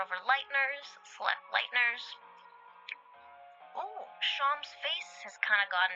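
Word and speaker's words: Seam: The names seem pronounced sham.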